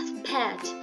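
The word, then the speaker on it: spät: Untuk A umlaut ini dia untuk penulisan dan pengucapan itu A, tetapi jika ada dalam bahasa Jerman itu atau dalam kata itu lebih seperti dibaca E. Jadi misalnya spat, ini dibacanya spat.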